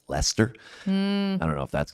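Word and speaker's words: Leicester: Yeah, I think one of them might have been like leester. So like kind of the way it looks like it's spelled but it's actually pronounced Lester.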